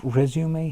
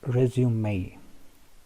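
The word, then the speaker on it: résumé: This word resume has two pronunciations. One is British, another is American. The British pronounce it like resume.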